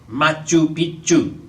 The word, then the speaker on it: Machu Picchu: "Machu Picchu."